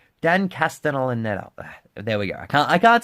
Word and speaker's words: Castellaneta: who was fucking voiced by Homer Simpson, Dan Castellaneta. I pronounced it correctly. Dan Castellaneta.